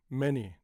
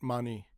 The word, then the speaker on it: many: Many, not mani.